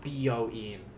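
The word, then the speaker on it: 美容院: Remember, be careful with that first syllable. Byoin is not byoin. That's a different building entirely. Byoin, beauty parlor. Byoin, hospital.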